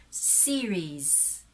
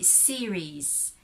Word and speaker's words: series: the name series series so if we are filipinos we actually read that as series so there is now again the lack of the the prolonged of the long vowel sounds series okay series and the last sound that the s there in the in the spelling that's a z so that is series